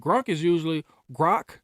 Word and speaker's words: Grok: Grok, but that's how you pronounce it.